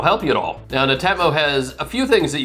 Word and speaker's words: Netatmo: And that by the way is how you say it, Netatmo.